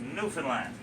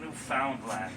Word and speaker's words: Newfoundland: Now a scuff is a dance, and a Newfoundland a blue star is a beer, and it's pronounced Newfoundland, not Newfoundland or Newfoundland.